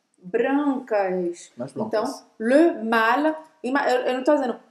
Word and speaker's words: mâle: Vamos agora para o terceiro, que se fala malle também, que é Que é o macho. Un mal. mal. Un mal que se escreve assim, com esse acento circunflexo. un mâle.